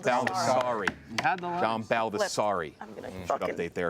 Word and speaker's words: John Baldessari: The correct answer is John Baldessari. John Baldessari. You had the last. John Baldessari.